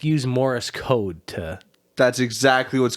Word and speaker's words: Morse: you saying over a Morris? fire. Is it pronounced Morse code? I said it's Morris, is it not? Morr. It's just Morse, isn't it?